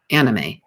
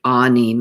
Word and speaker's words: anime: the discussion about japanese anime and i have been pronouncing it incorrectly i've been calling it anime but it's actually anime a-h-k-n-e-e-m-a-y it's an abbreviation for